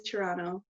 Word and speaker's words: Toronto: yeah t-r-o-n space oh toronto yeah that's probably how most people say i tend to over-enunciate it um i put in the t but it really it is toronto like toronto so you got it